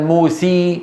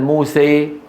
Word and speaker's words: موسى: يعني ما يقول مثلا موسي بدل موسى، موسي هذه صارت ياء، ما يصح، هذا صار إبدال ليس إمالة.